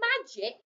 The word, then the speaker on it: magic: a tricky word because magic is spelled with the letter g but in the word magic the g is making the j for j sound so can you find